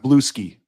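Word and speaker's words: Bluesky: It's pronounced Blue Ski.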